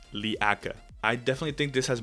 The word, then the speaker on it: Leaka: Our third candidate is called Leaka. At first, I read this name wrong. I thought it was Leica.